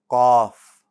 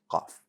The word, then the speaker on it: ق: so it's not off so don't pronounce it as a k sometimes it's pronounced like